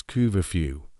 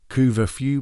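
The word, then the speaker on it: couvre-feu: In the old French language of the Normans, the phrase for cover the fire was cooverw. Over time the English people changed the pronunciation. Coover few became curfew.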